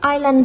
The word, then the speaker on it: island: มาจ้ะเนาะ in the word island แต่ตู้เยoh phonemic symbol ပြောထားတယ်ပြီးတော့ the letter s is silent use your dictionary to find the silent letters in this work ဆိုတော့ island ဆိုတဲ့စာလုံးပေါ့နော် i s l